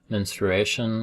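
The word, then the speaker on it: menstruation: um uh doctors, physicians, and whatnot per uh pronounce it ministration. I rarely ever hear anyone pronounce it that way, but uh that is uh apparently the proper way to pronounce it according to your book.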